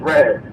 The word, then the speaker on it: Ras I: You pronounced my name wrong, too, man. It's Ras I.